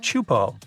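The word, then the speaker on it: Teahupo'o: all the name itself is a mouthful is pronounced chupo and it means broken skulls in tahan yeah you heard that right broken skulls the waves at chupo are massive and can reach up to 23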